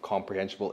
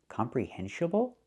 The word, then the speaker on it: comprehensible: If you guys want to see mini vlogs of comprehensible input, make sure to follow my English Instagram. The word is not pronounced comprehensible input. It's not pronounced comprehensible input. Comprehensible? It should be comprehensible.